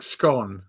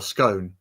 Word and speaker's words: Scion: The Scion, I think it's pronounced, isn't it? It's like scone or scone.